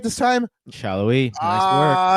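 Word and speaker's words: Sallói: And of course, their their biggest absence here, Daniel Shallow. Did I say it right this time? Shallow.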